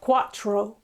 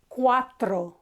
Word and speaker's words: cuatro: Again, not quattro, quattro. And O is O, it's not O. So cuatro, cuatro, not quattro, quattro. Okay, be careful. It's cuatro, cuatro.